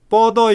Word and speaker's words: 뻗어: 그 다음에 금방 읽을 때 뻗어 있는, 이게 뻗자를 잘 발음을 못했어요. 뻗어 있는 해보세요. 태백산맥과 예, 소백산맥이 뻗어 있는, 아까도 다른 학생이 좀 잘못 읽었는데 뻗어 있는, 이 경음 된소리로 읽어야 돼요.